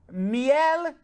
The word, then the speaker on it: miel: Mel sounds quite similar to the Spanish word for honey, miel. Is that how you pronounce it?